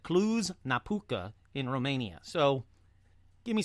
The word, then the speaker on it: Cluj-Napoca: Now, let's pause right there to say I think I nailed the pronunciations on this one. Not only did I say Hoia Baciu, but I also said Cluj-Napoca in Romania.